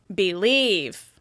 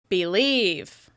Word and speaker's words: believe: Some people, including me, even reduce this first vowel sound, and it sounds like believe. By reducing the vowel sound even further, it makes it really clear which syllable I'm stressing. Believe. Believe. In this case, we're stressing the second syllable.